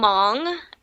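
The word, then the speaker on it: Hmong: otherwise yes I am Mong and awesome thanks for sharing that and you know what I never knew the H in Mong in Mong was silent so thank you for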